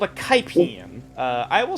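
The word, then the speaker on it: Kipine: It was called a Kaipian. I will spell that in the chat. This is K- actually the thing. K-I-P-I-N-E. Kaipian.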